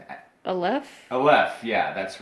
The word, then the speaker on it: Aleph: I don't know if I'm pronouncing it. Aleph? Aleph, yeah, that's right.